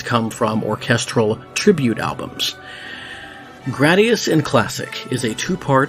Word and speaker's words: Gradius: gradius which yes officially seems to be pronounced like grad instead of grade or grad for those